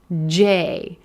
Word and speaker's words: J: J, J, gray day, J.